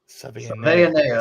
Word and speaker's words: Savaiinaea: Savaiinaea. Savaiinaea. That's how you say it. Okay. I butchered that.